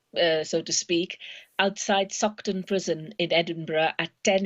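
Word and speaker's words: Saughton: party sort of uh so to speak outside suckton prison in Edinburgh at 10 A.M let me spell that for people uh doctor it's s-a-u-g-h-t-o-n so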